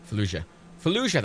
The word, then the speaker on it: Fallujah: 6 days in and Fatula. It's Fatula. You know that game, that fucking game, right? 6 days, yeah. And Fallujah, I can't pronounce it. Fallujah, that's it.